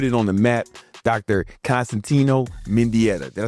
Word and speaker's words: Constantino Mendieta: Constantino Mindetta.